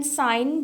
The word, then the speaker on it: sign: अच्छा, एस आई जी एन साइन जो है यहाँ पे हमारे पास जी साइलेंट है, लेकिन जब हम अगर हमारे पास यानी जी एन लास्ट में आ रहा है, जो बच्चे मेरी वीडियोस साइलेंट लेटर्स की देखते रहे हैं उन्हें मालूम होगा, अगर हमारे पास जी एन लास्ट में किसी वर्ड के आ रहा होता है तो जी हमेशा साइलेंट होता है, लेकिन अगर हम उसके